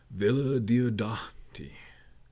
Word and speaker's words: Villa Diodati: But Villa Diodati is pronounced how it sounds and is really fun to say. Villa Diodati.